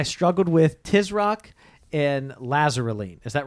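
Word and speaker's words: Lasaraleen: tricky it sounds like lazarulene but or it doesn't look like that but that's how it's pronounced so we'll actually talk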